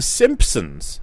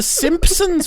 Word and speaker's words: Simpsons: they were like NOP no we don't pronounce the P Simpsons how strange is